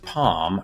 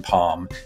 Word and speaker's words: palm: As you pronounce them, do the words farm and palm rhyme? Yes, they do. Unlike here in the US or many parts of the US where, you know, the L in palm is pronounced. I don't do that in England.